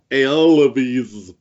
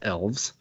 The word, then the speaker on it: Aelves: think of these new AES AES well if you had read the recent white dwarf you would know that it's pronounced elves oh oh I'm sorry